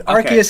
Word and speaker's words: Arceus: really work it's okay an arceus is actually Arceus that's how I like to say it but no but it's